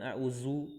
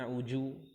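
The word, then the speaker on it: أعوذ: Baik, jadi lafaz ta'awudz ya, bukan a'udzu, bukan a'uju ya. Tapi a'udzu.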